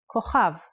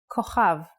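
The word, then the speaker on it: כוכב: Without the dot, it sounds like Ch. Chaf. A good example is the word kochav, kochav, which means a star. K, O, Cha, V, kochav.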